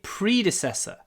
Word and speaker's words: predecessor: Most of the team were hired by my predecessor. So predecessor, предшественник, the stress is on the first word. Predecessor, the first word, the first syllable.